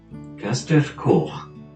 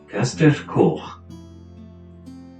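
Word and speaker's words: Castell Coch: means red castle and what follows is a pronunciation in welsh of how to say its name correctly gaster core caster core castle is a 19th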